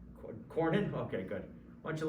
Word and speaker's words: Cornyn: is up for re-election his name rhymes with ryan rhymes with ornan cornyn okay good why don't